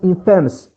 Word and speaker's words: infamous: We don't pronounce it infamous here, we pronounce infamous. Pay attention, after A is shva, infamous.